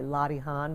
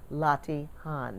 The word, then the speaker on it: Latihan: ask me what is lottie han and they actually don't even know how to pronounce it i pronounce it the new york way lottie han but it's spelled l-a-t-i-h-a-n lottie han that's the british way